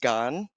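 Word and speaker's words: 癌: cancer and explaining that it stood for, it's pronounced gan.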